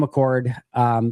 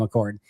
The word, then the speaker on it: Achord: Cam Achord, interesting hire for Green Bay.